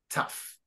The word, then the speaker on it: tough: like but no it's tough GH tough question yeah it's pronounced like an F and remember pH is